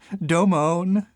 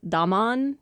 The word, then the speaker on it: Domon: I I realized that the way Rain pronounces his name is more like Domone. Domone, we're in some trouble now. Oh dear. It's probably an overcorrection. Initially they might have said Don just reading it from English and then